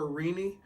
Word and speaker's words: Rene: Randy and that's r-e-n-e it's spelled like Renee but I call her Rini so it's really Renee